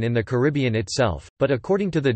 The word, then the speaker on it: Caribbean: common pronunciation in the Caribbean itself, but according to the Dictionary of Caribbean English Usage, the most common pronunciation in Caribbean English is in fact on the first syllable, car, bn.